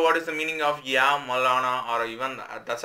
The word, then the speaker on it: Ya Maulana: YA MAULANA. YA MAULANA. That's how we have to pronounce.